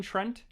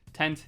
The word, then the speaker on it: Tent: pronounced the holdovers by Kevin Trent tent tent not Trent uh killers of the